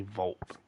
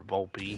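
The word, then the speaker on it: Volpe: thing you get 87 Anthony Vault or Vulpy either way I think it's pronounced I pronounce it vault but uh I guess we'll do it on Allstar.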